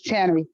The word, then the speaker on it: Taneri: Can you help me with the pronunciation of your name? Yes, it's Tannery. You said it right.